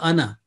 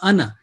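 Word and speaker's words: أنا: وَجَّهْتُ وَجْهِيَ لِلَّذِي فَطَرَ السَّمَاوَاتِ وَالْأَرْضَ حَنِيفًا وَمَا أَنَا. Here again, the word أَنَا has mentioned. If we joining, وَمَا أَنَا مِنَ الْمُشْرِكِينَ, this alif will not be pronounced traditionally, okay?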